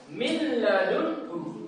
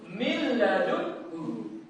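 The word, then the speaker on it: مِن لَّدُنْهُ: Jadi contohnya itu langsung masuk ke huruf setelahnya. Jadi nun sukunnya itu tidak perlu diucapkan. Nah, contohnya m i n min ladun hu. Kita ininya disilang langsung mil gitu ya tanpa dengung.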